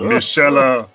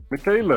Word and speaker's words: Michaela: and i i i i used to mispronounce this young lady's first name i thought she was michelle i thought she was michelle at first and then i was corrected so yeah so how do you pronounce it now michaela uh michaela i love that surname